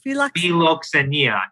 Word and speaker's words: philoxenia: How do you pronounce that word again? Philoxenia? Philoxenia, yeah.